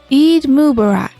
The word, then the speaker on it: Eid Mubarak: what is it what is it i'm unaware eid mubarak thank you kimchi for jaffa good morning griffin